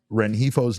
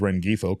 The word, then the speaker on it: Rengifo: So with the way that Geno has struggled, Rengifo's name came up. And we mispronounced it as Rengifo quite a bit, but Rengifo's name came up for a lot of Diamondbacks fans because